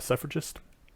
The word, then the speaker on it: suffragist: right among other things she was a a suffragist is that that how you pronounce it uh yeah okay yes I knew